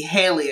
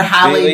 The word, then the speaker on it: Halle: much as I think, I'm happy to see Haley, I believe is, the actress, I forget Haley, what's her name? Isn't it Holly? Or Halle Bailey, that's what it is.